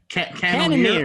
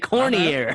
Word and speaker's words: Cannonier: What's his name? Cannonier. I can't pronounce Cannonier. that. Cannonier. You said Cormier.